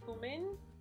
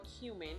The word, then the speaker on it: cumin: next I'm gonna add a little cumin or cumin however you like to pronounce it but I pronounce it cumin so next I'm going